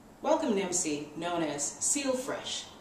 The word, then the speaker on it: Seel Fresh: to MC known as seal fresh it's spelled s-e-e-l that's clever all right he's